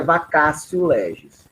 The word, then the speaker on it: vacatio legis: Se escreve vacatio legis, mas é vacatio legis, tá? O latim parece muito com o italiano. Então, esse T aí é como se fosse um ti, tá?